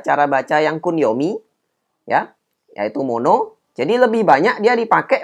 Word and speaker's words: 物: ongyomi motsu ya jadi Sudah ada semua ya cara baca yang kuning yaitu mono jadi lebih banyak dia dipakai memang kuyominya banyak dipakai ya ada kata-kata yang tadi Kun yopinya mono kemudian ongyominya ada dua butsu dan mod ini sudah tadi saya kasih beberapa